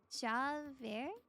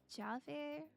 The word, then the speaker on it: Javert: But you do pronounce the J, please. Oh, Javert?